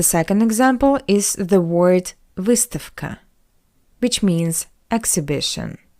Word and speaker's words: выставка: And the second example is the word выставка, which means exhibition. The voiced consonant V stands before the voiceless consonant K. That's why we pronounce V as its voiceless analog F. V, F, V, F.